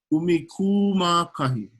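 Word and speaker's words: ʻumikūmākahi: But I want you guys to make sure you pronounce the okina at the beginning and then the 2 kahako. Okay, so we have umi, of course. Now try this with me. Umikuma kahi.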